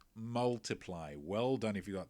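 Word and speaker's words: ×: so pretty different vibe what is the intended pronunciation of ed sheeran's second album that it is of course multiply well done if you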